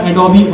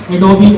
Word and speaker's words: Adobe: Sketch SKETCH, sketch, एडोबी XD, जिसको हम लोग एडोब बोलते हैं, बेसिकली उसकी प्रोनाउंसिएशन एडोबी है, ADOBE एडोबी XD।